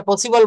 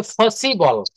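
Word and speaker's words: possible: এটা পসিবল বলা যাবে না। এটা বলতে হবে ফসিবল। বলতে পিকে বলতে হবে।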